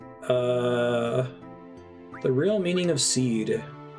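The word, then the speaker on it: Cid: a sorcerer since childhood seed is how you're meant to pronounce Sid this game is not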